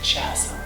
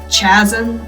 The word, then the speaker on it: chasm: I'll have to hitch a ride on this canister along the spine of the chasm. A supposedly professional voice actor's pronouncing the CH as chasm instead of chasm.